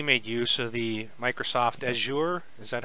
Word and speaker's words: Azure: It was the first game that completely made use of the Microsoft Azure. Is that how you say it? Azure, yep.